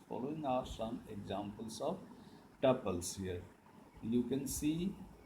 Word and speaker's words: tuple: It is pronounced as tuple.